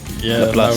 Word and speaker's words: Laplace: It's not L4 +1, is it? It's pronounced Laplace, isn't it? Yeah, I believe it's been mentioned to us that it's been pronounced like Laplace, but either way.